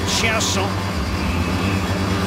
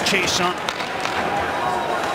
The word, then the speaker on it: Chiasson: And for the Ottawa Senators, Kyle Turris up front with MacArthur and Alex Chiasson. Back to the French pronunciation of his name after being anglicized in Dallas, no longer Alex Chiasson.